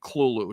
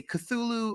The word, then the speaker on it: Cthulhu: is supposed to be pronounced without the th it's all supposed to just be heavy guttural KL kind of sounds it was supposed to